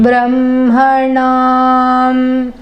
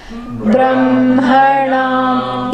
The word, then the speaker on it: ब्रह्मणां: Brahmanam. Even though it's written Brahma, it is Brahma. Okay? That much we have to remember. The ha comes before ma, but it's pronounced the opposite way. Brahmanam.